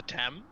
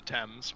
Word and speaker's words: Thames: and thrown them into the Thames the t'aime sure American I can mispronounce everything I'm like 90% sure it's the Thames but you know probably